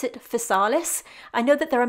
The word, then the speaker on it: Physalis: fruit so here in the uk we pronounce it facalis i know that there are many different ways